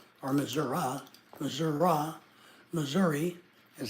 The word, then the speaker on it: Missouri: to meet girls yeah Missoura is the way that locals pronounce Missouri or Missour Missour Missouri is how I pronounce